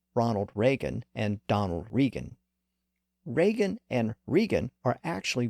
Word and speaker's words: Regan: in the 1980s you might remember that Donald rean was his treasury secretary and later Chief of Staff it was very easy to confuse those two names Ronald Reagan and Donald rean Reagan and rean are actually variations of the